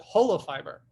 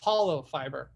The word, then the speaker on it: holofiber: And so we called it holofiber, holistic fiber. But depending on your diction and what part of the United States you grew up in, you would pronounce that hollow fiber.